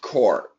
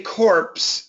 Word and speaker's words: corps: so all right so when we talk about the Marine Core the pronunciation is core if you say corpse if you say Marine corpse it actually means a dead Marine Soldier is a a marine